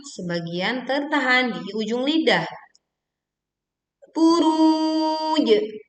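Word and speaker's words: البروج: Buruj, buruj. Panjangkan dulu ru sebanyak bisa 2, 4 ataupun 6 harokat. Lalu kemudian kita berwakof di jim sukun dengan memantulkan suaranya dengan kuat. Was-sama'i dzatil buruj wal yaumil, wal tekan lam sukun, yaumi.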